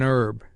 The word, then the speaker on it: herb: An is still used before the silent h, as an herb, an honest man, but otherwise a, as a horse my kingdom for a horse.